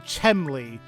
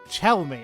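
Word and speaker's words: Chelmey: I kept saying Chenmley, like where the the M was before the L, but it's Chelme.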